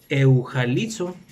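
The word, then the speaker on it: εὐαγγελίζω: Y la segunda palabra que conforma la palabra evangelio, o en griego que se pronuncia eujalizo, viene siendo la palabra ángelo, que su numeral es el 32, que significa ángel o mensajero divino.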